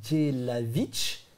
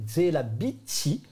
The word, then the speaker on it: Jelavich: En japonais, c'est Jelavich, si tu le prononces vraiment. Mais en japonais, quand tu le prononces à la façon japonaise, c'est Jelabichi.